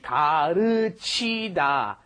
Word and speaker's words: 가르치다: You've got 가르치다. First of all, the L is right in between the R and L in English. It's more like a D almost.